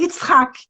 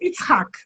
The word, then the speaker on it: Yitzhak: O nome é Yitzhak. E você, quando ri, pronuncia mais ou menos Yitzhak.